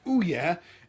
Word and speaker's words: Ouya: It's spelled like this, it's pronounced Ouya, and it's a new gaming console.